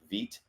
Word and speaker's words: Vite: and tons of viewers are well familiar with vit which is how you pronounce it's spelled Vite for you know that